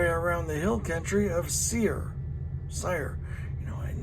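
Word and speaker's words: Seir: the Hill Country of seer sire you know never known how to pronounce that it's ser ious seer then the Lord said to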